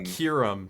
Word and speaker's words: Kyurem: I want to say it's I can never pronounce it right, but it's the Black Kyurem. Kyurem, that's how it is.